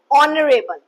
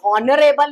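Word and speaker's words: honourable: Mister Gupta is एन ऑनरेबल person, ऑनरेबल। ठीक है, ऑनरेबल में भी हॉनरेबल नहीं बोल रहे, ऑनरेबल।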